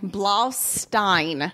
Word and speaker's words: Blaustein: Blaustein.